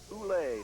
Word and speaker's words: Ulich: And that will bring up Kim Ulich, junior. They pronounce that Ule now, I understand. Yeah, I think they call her Kim Uli.